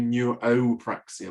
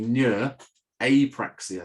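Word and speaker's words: neurapraxia: it's hard to pronounce people generally tend to do neuropraxia which drives me crazy because neuropraxia means nerve working the word is actually neur apraxia nerve not working but i call that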